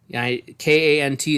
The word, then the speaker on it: Kant: K-A-N-T is pronounced Kant. It's also sometimes known as Kantian Kantian ethics.